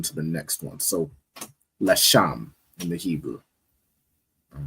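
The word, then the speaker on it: Leshem: Which is pronounced in the Hebrew Lasham. Lasham. No sign Christ. All right. So it's the Legia, which in the Hebrew is pronounced Lasham.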